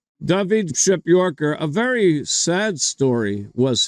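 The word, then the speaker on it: Przepiórka: P r z p i o r k pronounced ship Yorker ship Yorker David ship Yorker a very sad story was his born 22nd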